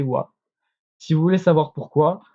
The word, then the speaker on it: は: chi l'ha ghana a mais elle va se prononcer voix si vous voulez savoir pourquoi c'est dû au